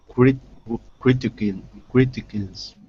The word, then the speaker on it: criticism: below competition for Daniel criticism not not kism but sism sorry not kism but sism at the end sism cism not kism sism sism slow down go slow go